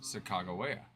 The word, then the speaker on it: Sacagawea: Then this one says Sacagawea. With a hard G sound.